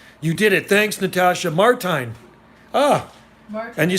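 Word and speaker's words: Martijn: love palm trees you did it thanks natasha martine ah and you say your name natasha right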